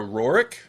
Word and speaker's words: Roark: mobile Tron today we are here with Sarah roric did I am I'm pronouncing that correct right that's absolutely right awesome